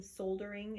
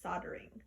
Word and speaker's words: soldering: into that so this the word that you are pronouncing soul during is actually pronounced soldering soldering and it is